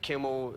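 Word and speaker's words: Kimmel: name happens unfortunately to rhyme like Kimel it only rhymes with Nimble symol and thimble you might be right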